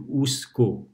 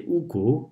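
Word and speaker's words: उसको: And we don't say usako that much, we say usko, usko. The so in the middle is pronounced like half.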